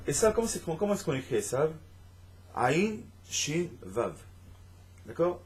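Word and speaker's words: עשו: Esav, comment est-ce qu'on écrit Esav? Aïn Shin Vav. D'accord? Ça s'écrit Asou, mais ça se prononce Esav.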